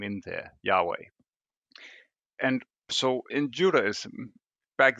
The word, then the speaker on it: Yahweh: start with yah namely so it becomes yahweh yeah and not jehovah so but that's just